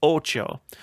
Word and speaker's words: OTXO: So it's pronounced Ocho.